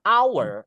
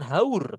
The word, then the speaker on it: hour: Our itu kan haur gitu ya, Sis Evi. Tapi bahasanya kan hour, hour, hour, bukan haur kan.